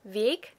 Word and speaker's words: Weg: I genuinely do think that I hear a difference between my naturally pronounced Weg and the intentionally hardened Weg.